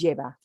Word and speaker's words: lleva: If I'm talking about just one dish, you're usually going to keep it as lleva. It contains, right? It has. But now look at how close in pronunciation it is to llave.